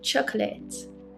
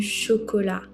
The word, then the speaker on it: chocolat: Okay, chocolate. This one is the same word, but pronunciation is different. Du chocolat.